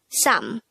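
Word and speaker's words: 사: to make it number four which is sa pronounce this with me how do we spell sa in hangul it's very simple we need to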